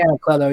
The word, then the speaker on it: Anacleto: Yeah, Brian Haverland and Jay Leto, or how do you say his last name? Jay Anacleto, yeah.